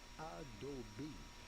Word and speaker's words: Adobe: Yeah, pretty much I'm just an Adobe whore.